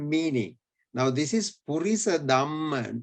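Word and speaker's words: damma: Now this is Purisa Dhamma. There's no H here.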